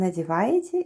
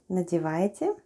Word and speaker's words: надеваете: Let's go 🕹️ НОСКИ /naskee/ is "socks"; ВЫ /vêê/ is "you"; ВЫ НАДЕВАЕТЕ /nadyevayetye/ is "are putting on" НОСКИ /naskee/ -